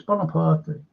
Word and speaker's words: Bonaparte: Now, when you pronounce his name, it's Bonapart. How does that sound? Doesn't sound French, does it?